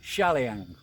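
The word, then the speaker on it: Chaliang: to call it because the Thai is pronounced CH as Shah not sure so let's say shalian shall we as you're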